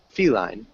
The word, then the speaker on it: feline: of cat feline yeah make sure you emphasize fee feline feline good feet line yeah there you go a